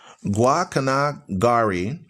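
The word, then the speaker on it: Guacanagarí: It says Guacanagari with the stress on the last syllable, and he numbered among his vassals many men of high standing, several of whom I know personally.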